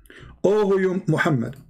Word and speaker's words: Muhammad: know how to say his prophet name correctly muhammad you will not find any people who believe